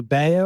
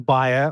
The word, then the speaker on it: Bayer: I'm going to disappoint you because the Germans and the Americans pronounce it slightly differently, and we're a global organization. Oh, this is good. No, this is good. So I think you can say either Bayer or Bayer or Bayer.